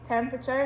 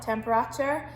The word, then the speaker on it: temperature: it's commonly misspelled so it's really really often the e in the middle of the word is left out because it's actually temperature not temperature um and it's hard to hear that e so it's about learning